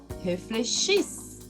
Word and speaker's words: réfléchissent: Pluriel, elles réfléchissent. Eu não pronuncio NT, mas eu pronuncio muito bem a consoante.